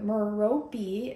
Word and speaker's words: Merope: how I intuitively was drawn to meropi is how you pronounce the name in the pleaves which